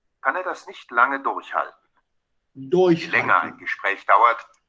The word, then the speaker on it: durchhalten: er das nicht lange durchhalten. Je länger ein Gespräch dauert. You saw the stress? Durchhalten. So stress on the first syllable means it's separable.